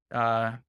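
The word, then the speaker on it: TWAMM: I see a lot of different protocols also launching different TWAM. I can't. How do you pronounce? I say that? T-WAM. I like T-WAM.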